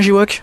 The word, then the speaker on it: Jiwok: Je prononce bien J-Walk? Très bien, c'est parfait, J-Walk.